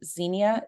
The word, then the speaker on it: Xenia: So and I know that we also have Kale and we have Xenia. Did I say that right? Yep, perfect.